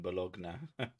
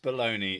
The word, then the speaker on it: bologna: Mustard is yummy on hot fogs and bologna. Bologna. That's what it's called. Anybody who says that's baloney is fucking. I've never heard anything called bologna before. Anybody who thinks it's pronounced baloney is full of bologna.